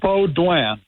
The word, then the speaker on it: Baudouin: How did I do with the pronunciation? Okay, Baudouin. Baudouin. It's Baudouin.